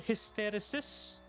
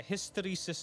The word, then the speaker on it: hysteresis: It's called hysterosis. I might be pronouncing it wrong but it's called yeah hysteresis is the word.